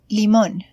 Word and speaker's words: limón: So, for instance, we have the word limón. Its stress is on the vowel O, just right where the accent mark is.